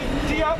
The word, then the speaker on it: Diop: Diop, I think it's pronounced.